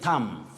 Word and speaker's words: thumb: say thumbnail you say thumb thumb name that b is silent right just like in the word dumb or thumb print not